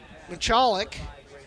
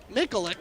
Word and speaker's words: Mikulik: That was Larissa Michalik. Mikulik, excuse me. I did pronounce that wrong.